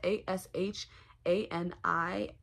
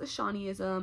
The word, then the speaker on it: Ashanism: me on Twitter at Ashani ISM it is a-s-h-a-n-i-s-m it is pronounced ashanism I know people will look at it and